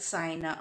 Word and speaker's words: cyan: is burnt cyan okay why cyan we say like in a pie pie ti e tie so that like i'm pronouncing is burnt sign okay in other places